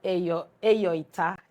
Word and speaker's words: Eyoita: I'm just giving you the light version of it, but it's really Eyoita is how you say it. It's EYO-ITA.